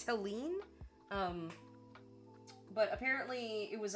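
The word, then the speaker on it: Helene: out it was pronounced I thought it was like pronounced Helen Helen or something but it's it's Helen um but apparently it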